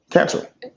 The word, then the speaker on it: Cantrell: Pronounce hers correctly? Is it Cantrell or Cantrell? Cantrell.